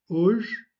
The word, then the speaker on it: Hoje: Pour ce qui est du H, au début et à la fin du mot, la lettre H ne se prononce pas. habile, harpe, c'est l'instrument de musique, la harpe. Hoje, qui veut dire aujourd'hui.